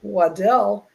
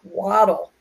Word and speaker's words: Waddell: And so I would appreciate it if you would please pronounce it Waddell and not Waddle, or at least call me.